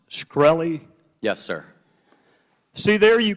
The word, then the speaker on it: Shkreli: chairman is it pronounced shkreli yes sir see there you can answer some